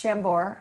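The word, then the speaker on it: Chambord: booze i use beer it's chambor and do not shampoo it is spelled c-h-a-m-b-o-r-d i believe the terrible tip our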